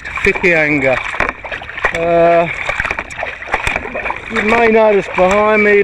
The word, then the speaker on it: Whitianga: We've been paddling for half an hour and we've just left the beachfront resort in Whitianga, pronounced WH spelling, Whitianga, but pronounced Whitianga.